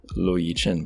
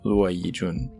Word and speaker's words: Luo Yijun: Although if you are not familiar with how to pronounce Taiwanese Chinese names from romanization, you might be seeing it as Luo Yijun, but be aware it's not, it's Luo Yijun.